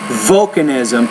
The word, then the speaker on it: volcanism: When you say that first word, volcanism, put more stress on the first syllable.